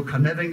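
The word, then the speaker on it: Cynefin: Das ist ein Welsh, also ein walisisches Wort. Deswegen spricht das jeder erstmal falsch aus. Ich spreche das mit Sicherheit jetzt auch noch falsch aus. Aber so Carnarvon ist schon ziemlich nah dran an der richtigen Aussprache.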